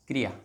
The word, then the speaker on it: क्रिया: जैसे एक शब्द होता है क्रिया, क्रिया, ये जो रे है, यहाँ पे रे